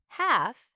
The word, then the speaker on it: half: Then half. The letter L was there again, but no sound.